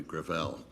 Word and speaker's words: Gravel: it within my family grael grael it's a French name thank you uh I